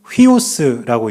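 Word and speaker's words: υἱός: 세 번째 단어는 세우라고 읽습니다. 하나님의 뜻이에요. 그리고네 번째 단어는 휘오스라고 읽는데 이것은 아들이란 뜻입니다.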